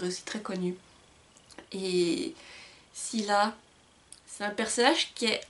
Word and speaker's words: Scylla: Bang, et du personnage de Scylla. Ou Silas, mais moi je l'ai toujours prononcé Scylla, donc voilà.